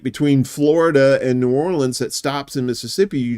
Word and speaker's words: New Orleans: New Orleans so and please don't say New Orleans don't don't Yankee FY yourself it's New Orleans New Orleans like o r l i ns say it like that and the locals